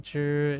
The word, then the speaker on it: 只: When zhi is used as a measure, it's pronounced as first tone.